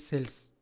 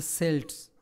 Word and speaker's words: Celts: Firstly, we will talk about the Celts, whom we can pronounce Celts, S-E-L-T-S, or Celts, K-E-L-T-S. So Celts or Celts, we can pronounce it, the word C-E-L-T-S.